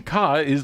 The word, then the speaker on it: Ka: I don't know why, but even car was kind of cool. I think the Ford Ka, or car, or whatever it is, Ka, they pronounce it each way themselves, is probably, to this